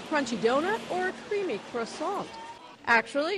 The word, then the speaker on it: croissant: Now, the news reporter's pronunciation is very good. Croissant, croissant, something like that. But most Americans say croissant, croissant, croissant. I like a croissant. I'd like a croissant, please. So there are several pronunciations, but her pronunciation, very good.